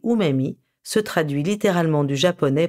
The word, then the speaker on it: umami: Ce drôle de nom, qui s'écrit umami, qui est à prononcer umami, se traduit littéralement du japonais par « goût délicieux ».